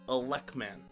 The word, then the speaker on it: Elec Man: Bomb ice that is there's a reason why his name is elec man and not electricity man because they could only have up to four letters and in the manual they don't call him electricity man they call him a luck man when they did the Remake powered up they kept it electman so it is elect man they kept it bomb